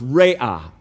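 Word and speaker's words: Raah: one is jehovah raya r-a-a-h but it's pronounced ray-ah that's what it means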